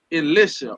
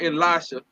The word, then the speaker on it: Elisha: You never know my So look, you got you got non and Ghazi and Elisha or Elisha depending on the pronunciation, but it's spelled E L I S H A and N was a captain of Syrian army.